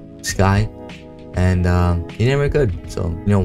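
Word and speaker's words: Skie: The new channel name is going to be Sky. It's pronounced Sky, but spelled S-K-I-E.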